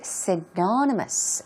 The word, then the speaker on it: synonymous: First of all, we've got the word synonymous. Synonymous. Here we go. Stress goes right there on the second syllable.